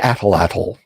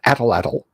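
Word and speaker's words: atlatl: my YouTube commenter the athletol I don't care if the last L is silent it's fun atlatal blow guns caltrops so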